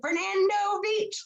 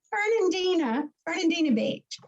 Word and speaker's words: Fernandina Beach: about how to pronounce it and how to spell it. Yes, Suzanne Hudson, she sends me stuff, and she sends it to Fernando Beach, Florida, and he comes. I laugh because it's Fernandina Beach.